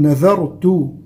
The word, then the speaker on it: نذرت: بالكسر وقلنا بمقدار حركتين، نذرت النون والذال من حروف الترقيق، فنقول نذا وليس نظا، ولا نقول نذرت يعني نطقها زاي، لا، هذه ذال.